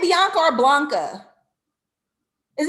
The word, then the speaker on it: Blanca: beyonce or blanca is it blanca she says bianca is blanca you know okay okay to be fair in the chat the i and the l look exactly alike okay i thought i was saying it right and y'all been telling me the entire time i'm saying it wrong it's blanca if there's anything you